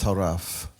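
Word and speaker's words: טרף: The root word is pronounced taraf.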